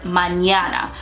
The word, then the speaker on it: mañana: an ear yeah so like in the word mañana mañana is the perfect example because it has